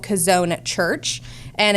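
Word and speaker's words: Chazown: a an experience called kazon at church and it's really worth it it's called kazon okay just because not Casona church right it's just called because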